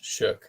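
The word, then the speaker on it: Shough: shook yeah s h o u g h shook yeah yeah Tyler shook he was he was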